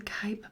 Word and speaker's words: Khyber: The answer being the Khyber Pass. Again, if that's how you pronounce it.